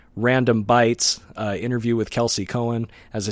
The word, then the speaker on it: Kelsey Coan: me posted thank you all right that was Kelsey Cohen apologies for the choppy uh of the interview